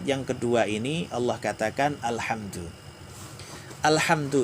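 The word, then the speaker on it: الحمد: katakan alhamdu lillahil hamdu ini kalau baca al-qur'an agak sedikit hati-hati ya Hai perbedaan kalau al-hamdu jadi bacanya menggunakan huruf H Hai itu memang pujian hamdun itu kan pujiannya hai tapi kalau meleset misalnya menjadi Alhamdulillah itu agak perawan artinya kegersangan atau kematian bisa jadi Hai alhamdulillahirobbilalamin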